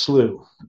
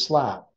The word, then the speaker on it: slough: Yeah, it's just these, it's pronounced slew. Okay. Some people pronounce it as slap. That's actually the British pronunciation.